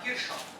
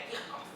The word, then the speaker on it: Kirchhoff: Eu falava Kirchhoff, boca cheia, quando estava dando aula há muito tempo. Aí fui para a faculdade fazer física, o PhD lá me falou que é Kirchhoff.